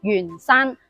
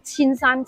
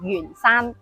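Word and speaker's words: 鉛山: 但係粵語只有一個讀音，就係讀鉛。例如話鉛筆、鉛球、鉛山，同呢個沿海沿途嘅沿字係同音。但記住啦，唔好用粵語將佢讀成千山千筆啦。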